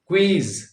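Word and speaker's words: quiz: गलत कर देते हैं तो क्वीन उसको लोग क्यून कह देते हैं क्वीज तो क्यूज कह देते हैं तो क्वी को क्यू कर देते हैं है ना यानी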